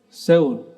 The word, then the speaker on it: Seoul: Bacanya apa yang benar? Seoul. Seoul.